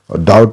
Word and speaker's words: doubt: Doubt ma B silence huncha. Doubt isma B ko pronunciation hudaina.